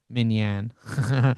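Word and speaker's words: minyan: By the way, minion is spelled Y-A-N at the end, M-I-N-Y-A-N, but it's fine, minion.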